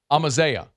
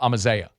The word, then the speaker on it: Amaziah: They said it's like Amadeus, but like with a Z and no S at the end. So Amaziah. Amaziah Ciale is how they say it.